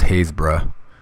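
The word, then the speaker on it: Happisburgh: go over the one in England I think Hayes bruh it spelled phonetically happiest borough but it's Hayes pronounced Hayes bruh let me just pull this up here so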